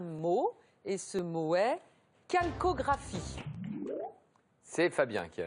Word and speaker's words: calcographie: D'où cette prononciation d'ailleurs pas chalcographie mais calcographie.